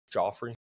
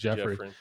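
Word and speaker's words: Geoffrey: Yeah, it's with a G. Oh, word. He's one of the GEOFF. Joffrey. No, but no, it's pronounced Jeffrey.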